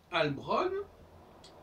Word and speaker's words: Halbronn: Et donc, Albron, c'est une tentative de prononciation masculine de la forme EI, Heilbron, H-E-I-L, qui renvoie à Heilen, Heili, etc., qui veut dire guérir, etc.